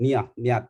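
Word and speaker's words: نية: How do we pronounce it? Niyat, yeah, in Arabic.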